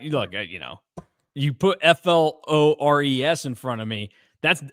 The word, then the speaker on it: Flores: It's pronounced Flores, not Flores.